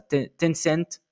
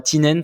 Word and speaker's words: Tencent: Donc avec la présence d'entreprises, voilà, que vous connaissez très certainement, hein, Alibaba, Samsung, je sais jamais comment le prononcer ça, Tencent. Et non pas Tinent comme les bières écossaises.